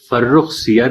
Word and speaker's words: فرخ سیر: تو قابل غور بات یہ ہے کہ فرخ سیر کا درست تلفظ نہ کیا جائے تو مصرع بحر سے خارج ہو جائے گا، اور زر اور مٹر کا قافیہ لفظ سیر نہیں ہو سکتا، سیر ہو سکتا ہے.